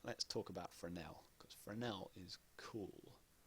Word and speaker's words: Fresnel: Because Fresnel is cool. Fresnel. For years and years I pronounced this as Fresnel.